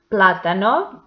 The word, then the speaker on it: plátano: Plátano, the antepenultimate syllable is the stressed one, and it has the accent mark.